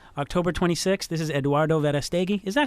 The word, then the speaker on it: Verastegui: This is Eduardo Verastegui. Is that how you pronounce it? Is that good? Eduardo Verastegui. Verastegui.